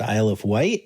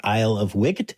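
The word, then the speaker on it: Isle of Wight: that I know that it's actually pronounced isle of white and not isle of wicked, which is what it looks like.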